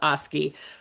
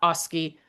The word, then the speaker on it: Oski: get to know this horse, Oski, how you say it in Icelandic.